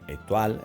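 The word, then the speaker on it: étoile: La carta se llama stoile, cuando realmente estrella se dice etoile o mejor dicho en francés se pronuncia etual, eh, que nadie se confunda.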